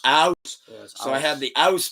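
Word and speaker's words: Aass: It's spelled ass with just like 1 extra A at the beginning, but it's actually pronounced aus.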